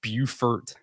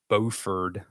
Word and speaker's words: Beaufort: So a little quick tip, if you're not from North Carolina or from South Carolina, so you have Beaufort, South Carolina, and then you have Beaufort, North Carolina.